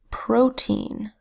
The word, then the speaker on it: protein: Protein is spelled with a P that says, an R that says an O that makes a long O sound, O, because it's in an open syllable. Then a T that says T, an EI phonogram that says E, and an N that says N. P, R, O, T, E, N, say it fast, protein. Protein is an organic compound that's essential to life.